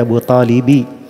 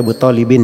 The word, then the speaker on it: Abu Talibi: Di situ dibaca Abu Talibi, tidak boleh dibaca Abu Talibin ya.